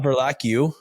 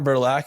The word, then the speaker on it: Verlaque: Not Verlaque, Matt Verlaque.